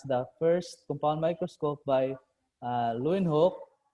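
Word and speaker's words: Leeuwenhoek: first compound microscope by lewin hope which in some languages pronounced as leaving hook leaving who i don't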